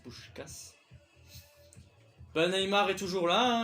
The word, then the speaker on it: Puskás: Parce que c'est comme ça que ça se prononce, c'est Puskás.